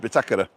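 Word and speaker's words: bitácora: can get it before me hey Siri what's bitakura in English all right thank you Craig the binnacle so this is the binnacle and it's pronounced bitakera because there's a little action on the a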